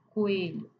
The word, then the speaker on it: coelho: Para falar três sílabas, piano, coelho, o o e o e não consegue ficar junto porque ambos são fortes.